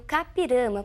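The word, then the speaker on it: I-Juca-Pirama: E a pronúncia é realmente essa capirama, porque é um termo de origem indígena. Nós escrevemos iu capiramba, mas pronunciamos iuká, que significa aquele que vai morrer.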